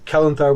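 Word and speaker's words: Celenthar: So Kelenthar with the C, but you know elves always have that hard C pronunciation.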